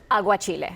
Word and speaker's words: aguachile: Aguachile? Aguachile.